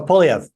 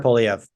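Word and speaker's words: Poilievre: Now, you would have heard, I cannot pronounce the guy's last name, Paul, what's his name? The leader of the conservatives. Oh, Polyev. Oh, yeah, I was about to say that. Okay. He did. Pierre Polyev.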